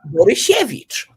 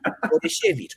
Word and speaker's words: Borysiewicz: They say Borysiewicz, not Borysiewicz. And then I told Bopping, by the way, just is she like sheshe, like saying. And then he says Borysiewicz. Perfect. You could, if you would just record it, he could go through as a Polish native speaker.